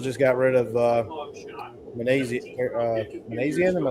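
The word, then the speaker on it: Minasian: And the Angels just got rid of uh Manasian. Am I saying it right? The Angels GM. Manassian.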